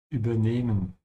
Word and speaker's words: übernehmen: which means you have to stretch the E when you speak it. And this is because you have an H after it. Ja? Übernehmen und nicht übernehmen. Ja? Oder übernehmen. So all of these pronunciations are wrong except the first one.